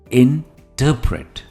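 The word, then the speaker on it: interpret: के समझ में आएगा इसकी प्रोनंसिएशन है इंटरप्रेट स्ट्रेस इज ऑन ट इंटरप्रेट next on my list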